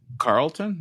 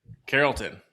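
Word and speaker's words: Carrollton: couple of evenings in Carlton. Is that how you pronounce that? Carolton.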